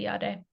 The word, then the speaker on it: Jade: So in Finland, I go with the Finnish pronunciation. If I introduce myself to an Italian, I might say Jade instead. But in Finland, I say Jade.